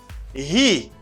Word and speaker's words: he: He, you stress the H. He, not E, it's he.